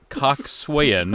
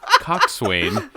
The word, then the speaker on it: coxswain: It is not coxswain. It is coxswain, and it is spelled C-O-X-S-W-A-I-N. Coxswain. I don't care, man.